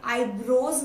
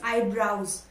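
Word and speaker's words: eyebrows: और इसमें आपने एक चीज नोटिस की होगी कि मैंने आईब्रोज नहीं बोला है, इट इज आईब्राउज। आईब्राउज, जी हाँ, इसका करेक्ट प्रोनाउंसिएशन आईब्राउज होता है।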